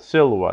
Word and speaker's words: silva: Words of two syllables are accented on the first syllable. Silva, nauta. Not silva or nauta, but silva, nauta.